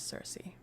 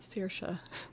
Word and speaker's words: Circe: So, you're probably right about how it's pronounced in Greek, or I don't know if you're talking modern Greek or just ancient Greek. Um but I guess the accepted anglicized pronunciation is Circe. And that's probably what I'll stick with. Yeah, not Sersha. That's an Irish name.